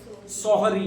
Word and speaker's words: सोहरी: sorry है कौन सी sorry है अपन तो अपन जिसको सोरी बोलते हैं ना वो सोरी नहीं कहलाती है बल्कि उसका असल उच्चारण यही है कौन सा है सोहरी है ठीक है ध्यान रख